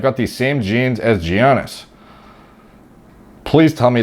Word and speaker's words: Giannis: in greece to nigerian parents oh my god pronouncing his name simply janis antetokounmpo giannis okay giannis so yeah i did indeed [